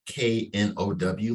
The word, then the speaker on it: Know: And when we say no homo, we actually pronounce that KNOW, like no homo. Get to know. Come get to know us.